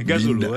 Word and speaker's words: Ngazolo: Binda Gazolo, on dit bien Gazolo. Hein. Mais pourtant, c'est simple, c'est 2 syllabes. Binda et 3 syllabes, Gazolo.